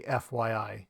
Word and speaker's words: FYI: lot of syllables so when I'm speaking I would just say fYI it's also shorter to